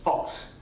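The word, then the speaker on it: Ffowcs: the president there or the chancellor said that this should be pronounced Fox is what said pronounced Fox so Hawks Williams Haw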